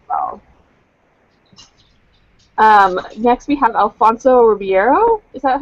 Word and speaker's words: Ribeiro: Next we have Alfonso Ribeiro. Is that how you pronounce his last name?